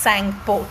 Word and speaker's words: Tsangpo: day it's called reverse Tsangpo T is silent then as it flows